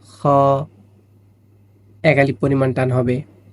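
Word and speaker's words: خاء: হা, খ, খ, ভিতর থেকে একটা বাতাস চলে আসবে, খ, এক আলিফ পরিমাণ টান হবে।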